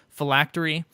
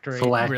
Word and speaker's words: phylactery: Phylactery. It really is. The way it reads, it does not feel like it should be pronounced that way, but I believe that's correct.